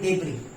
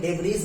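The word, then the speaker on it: debris: ठीक है, रिमूव का मतलब, और एक बात और सुन लीजिए, यहाँ पर एस साइलेंट रहता है, एस साइलेंट है यहाँ पर। इसको हम पढ़ते हैं डेब्री, डेब्री पढ़ते हैं, डेब्रीज नहीं पढ़ते, डेब्री पढ़ते हैं।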